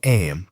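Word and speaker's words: Eyam: Am you know is pronounced just like them.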